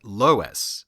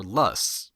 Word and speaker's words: loess: Well, it's yellow from the heavy deposits of a type of wind-blown silt called loess, or lus, or even lurs. There doesn't seem to be a set pronunciation for it.